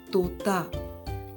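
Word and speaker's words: तोता: in Hindi parrot is known as so the pronunciation of tea similar to that of T in the word pasta so Tota maina is known as Mena in Hindi is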